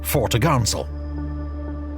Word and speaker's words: topgallant sail: Her large square sails included the fore course, fore topsail, pronounced tops'l, and fore topgallant sail, pronounced fore-t'-gallants'l. On the main mast, the main course, main topsail, and main-t'-gallants'l.